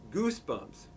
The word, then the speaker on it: Goosebumps: didn't approve this video it's pronounced Goosebumps Goosebumps thank you